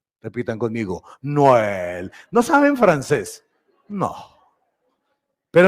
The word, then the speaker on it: Noël: En francés, Noël. Repitan conmigo, Noël.